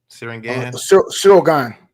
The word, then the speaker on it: Ciryl Gane: Ciryl Gane? Ciryl Gane.